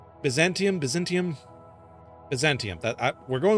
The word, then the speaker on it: Byzantium: I keep that name keeps messing me up. The Baantium. Byzantium. I keep wanting to say Byzantine. Like that's why it keeps messing me up. So whenever every single time I read that and if I I it's a tongue twister for my brain because I keep wanting to say Byzantine Empire.